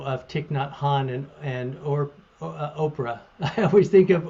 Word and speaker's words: Orpah: Thich Nhat Hanh and Oprah. I always think of Orpah. She was actually named Orpah after the character in the book of Ruth, and she could never pronounce it, so she went by Oprah.